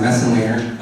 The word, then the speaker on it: Messenlehner: wesson later my name my last name is pronounced the messenglinger as you can see here a mess in